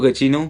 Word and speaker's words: Giacchino: Michael Giacchino, I have been pronouncing your name wrong all this time.